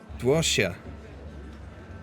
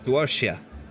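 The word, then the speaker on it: 多谢: Duoxia. Meaning thank you is pronounced roughly as D-W-O-R -S-H-Y-E-H. So Duoxia.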